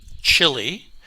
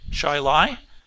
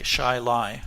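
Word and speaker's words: Chili: C H I L I Chile, as I would pronounce it, is actually pronounced Shily or Shili." Which one? Shili. Okay. Shy lie.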